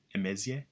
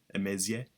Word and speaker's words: Emezie: My name's uh Emaysia. That's how That's how it's pronounced. Emaysia.